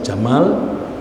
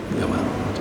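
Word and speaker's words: جمل: unta perang Jamal Jamal Jamal bahasa Arab Saudi Arabia bacanya Jamal kalau Mesir bacanya Kamal ya Gamal nah ee waktu itu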